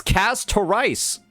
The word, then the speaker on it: Castorice: And I guess I was pronouncing her name, right? It's Casarice.